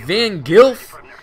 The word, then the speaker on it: Van Gilf: Shoutouts to my friend from England, Van Gilf. And I know I pronounced that right because I've asked him before. So Van Gilf is another guy I met on YouTube.